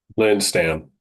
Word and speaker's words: Lindstam: Lynn Stam. Linstam.